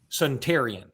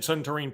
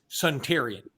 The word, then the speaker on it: Suntarine: signed with Ole Miss it is pronounced and I got this straight from Joseph Hastings who asked him personally sedentarian I know it's not spelled that way I have also said suntarine Perkins I said centering Perkins during the whole Alabama Mississippi All-Star game so did the other guys with me because they piggybacked off what I pronounced it is suntarian I don't know why